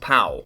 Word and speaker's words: Powell: Written by William Powell, pronounced pal.